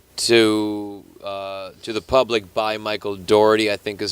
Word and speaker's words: Dougherty: I feel like it's Dougherty because I feel like it's Dough. But I pronounce that word dough. Okay. Some pizza dough.